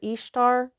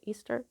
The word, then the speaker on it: Ishtar: easter's lionsgate you you a lot of people call her ishtar but i've heard that she's pronounced easter a lot like you know the holiday that christians celebrate easter so lion's gate the